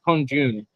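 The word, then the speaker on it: 空军: Pronunciation is kongjun or kongjun.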